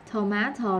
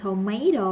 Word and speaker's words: tomato: Rồi, cái này là tomato là bên Anh, ok. Còn không là tomato là của Mỹ đúng không?